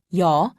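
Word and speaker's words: 요: sounds repeat after me yaw also written as yaw is pronounced yaw imagine that you are trying to say ee and o very fast be sure not to pause in between pronouncing the two sounds repeat after me also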